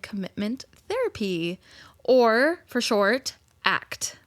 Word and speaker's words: ACT: therapy or for short ACT which is spelled just like how it's said ACC act or acceptance and commitment therapy.